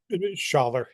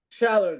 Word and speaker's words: Schaller: Am I pronouncing it correctly? Scheller Oh, Gallery. Schaller. Scheller Gallery, yes.